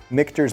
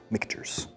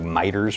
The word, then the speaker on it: Michter's: Michter's. Pretty sure I've been pronouncing this like miters for the past like 8 years.